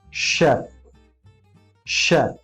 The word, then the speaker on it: chef: इन सारे वर्ड्स में CH का साउंड भी श है, श न कि च। Getting it? For example, the first word is chef, chef.